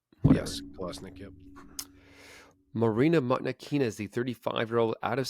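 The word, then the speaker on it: Mokhnatkina: Monknakina, yep.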